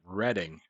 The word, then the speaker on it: Reading: how you pronounce it we actually pronounce it reading like it's it's spelled